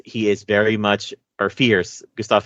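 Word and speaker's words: Fiers: He is very much, or Fierce. Gustav Fierce. Because it's spelled F-I-E-R-S, but it's pronounced like fear.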